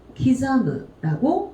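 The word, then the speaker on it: 刻む: 그 다음에 훈독으로 읽어줄 때는 기자무라고 읽어주시면 돼요.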